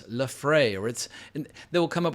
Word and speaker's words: Laphroaig: And one of the big ones is the single malt called Laphroaig. Oh, no, it's Lafroy, or they will come up with a variety of strange pronunciations. According to Brian Cox, it is Laphroaig, as I've always been saying it.